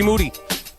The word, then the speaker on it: Moody: Moody. What's up? Last name rhymes with Doody.